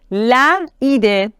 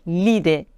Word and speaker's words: l'idée: Par exemple, le ami, c'est difficile à prononcer, on doit dire l'ami. La idée, difficile à prononcer, on doit dire l'idée. L'ami, l'idée.